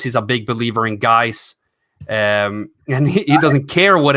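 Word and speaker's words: GAIS: show he says he's a big believer in guys and he doesn't care what anybody says it's a big believer in guys how can we not root for Darius guys you gotta be rooting for him at least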